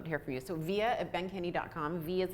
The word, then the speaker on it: Vija: hear from you so via at Ben Kenny calm vias and Victor I J a so it's it's Vij a but it's pronounced yeah just like via satellite Soviet Ben can you